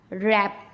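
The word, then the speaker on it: wrap: Rule number 2, अगर आर से पहले डब्लू आता है तब भी डब्लू को चुप ही रहना पड़ता है, तब भी डब्लू नहीं बोल सकता, वो भी शांत रहेगा। जैसे रॉन्ग, राइट, रैप।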